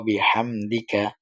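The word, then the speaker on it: بحمدك: জের দি ওয়াবি হাহামদি কাফ জবর কা ওয়া বিহামদিকা অনেকে সুবহানাকা আল্লাহুম্মা ওয়াবিহামদিকা অর্থাৎ এখানে হা টাও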